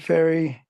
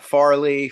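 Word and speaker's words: Fairey: right it's not it's it sounds like sounds like the goes across the yeah yeah people always want to say Farley faret I'm like no no it's just like too just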